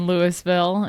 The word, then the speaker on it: Louisville: They say Salida instead of Celita and Lewisville instead of Louisville. Louisville.